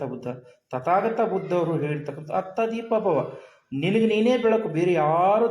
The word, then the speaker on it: ಅತ್ತ ದೀಪ ಭವ: ಅಂತ ಇವರಿಬ್ಬರು ಉಚ್ಚಾರ ನೋಡಿ ಬುದ್ಧ ಹೇಳಿರ್ತಕ್ಕಂತದ್ದು ಅತ್ತ ದೀಪ ಭವ ಆದರೆ ಇವರು ಪ್ರೊನೌನ್ಸಿಯೇಷನ್ ಇವರು ಉಚ್ಚಾರಣೆ ಮಾಡ್ತಕ್ಕಂತದ್ದು ಅಪ್ಪ ದೀಪ ಭವ ಅಂತ ಅಂದ್ರೆ ಇವರಿಗೆ ಅತ್ತ ಅಂದ್ರುನು